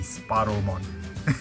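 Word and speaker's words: Sparrowmon: goodness you guys have you guys know your tiny bird species right it's supposed to be sparrow mod but everyone is having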